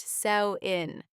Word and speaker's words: Samhain: a festival called Samhain, spelled s a m h a i n, but pronounced sow-in.